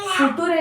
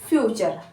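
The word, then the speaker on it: future: एफ यू टी यू आर ई यू को अ बोलेंगे और आर को र इ फिर से साइलेंट सो फ्यूचर ठीक है फूटूरे नहीं फ्यूचर ठीक है उसके बाद सी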